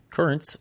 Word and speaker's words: Curranz: Currents, which is spelled Curranz, is a pre-workout supplement